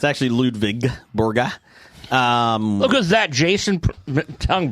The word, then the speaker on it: Ludvig Borga: Uh, Doug says, "Uh, did you watch Dark Side of the Ring about Lwig Borga?" I missed it, but man, that was one I wanted to see. It's actually Ludvig Borga.